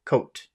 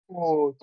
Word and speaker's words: code: Code. Cold, Code. cold. Code. If you try to pronounce number two in a short way, it will sound like number one.